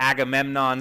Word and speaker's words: Agamemnon: the Agamemnon set.